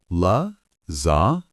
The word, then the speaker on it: lasagna: Is lasagna hard to pronounce? La zya. Easy.